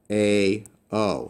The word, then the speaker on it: ᾳ: This is called an iota subscript, and it doesn't really affect the pronunciation at all. So this is still pronounced a, o.